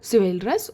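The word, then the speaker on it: chivalrous: इसे प्रोनाउंस कैसे कर रहे हैं शिवा से ही सी है बट शिवा ही इसका प्रोनंसिएशन है तो जो भगवान शिव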